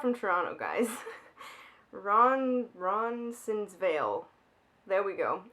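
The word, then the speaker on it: Roncesvalles: Ron's Ron I'm not from Toronto guys Ron Ron sinvil there we go it's spelled funny so it's hard to pronounce it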